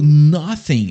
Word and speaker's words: nothing: A gente vai colocar a língua entre os dentes e dar essa assoprada, né? Ó, nothing. Então tem que colocar essa língua entre os dentes e assoprar, beleza?